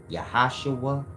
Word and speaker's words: YHWH: y who who you yhwh is pronounced you yahua y yahovah and all of